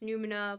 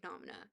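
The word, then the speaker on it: Noumena: I know it's pronounced numina, but it's I call it fang nomina because I just like being spiteful.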